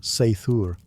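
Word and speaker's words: seiðr: Sometimes it relied on magic, specifically a mysterious practice called cider, pronounced seithur, which was part sorcery, part spiritual therapy, and part my ex won't return my runes.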